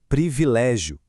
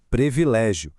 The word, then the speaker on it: privilégio: Para fechar nossa bateria rápida de comparações vitais, o correto é privilégio e o incorreto previlégio. Aqui, o detalhe técnico é a articulação exata das vogais. Precisamos marcar muito bem os dois primeiros sons de i na hora de falar, sem cair naquela armadilha super comum de relaxar a pronúncia e trocar o primeiro i por um e.